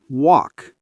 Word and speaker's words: walk: L is silent, walk, talk, calm.